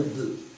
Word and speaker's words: bœufs: Prends un autre exemple, le labour avec une paire de bœuf, une paire de bœufs. On ne prononce pas le F.